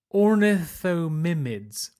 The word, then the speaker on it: Ornithomimids: The fastest dinosaur could well have been an ornithomid, or ornithomidid, very difficult to pronounce. Ornithomimids.